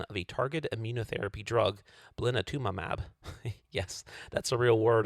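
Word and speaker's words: blinatumomab: tested the addition of a targeted amunotherapy drug blatumab. Yes, that's a real word, and that's actually how it's pronounced.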